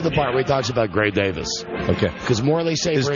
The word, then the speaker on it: Gray Davis: part where we talk Gray Davis okay cuz morle safer does he still pronounce it as cray Davis yeah and Morley Safer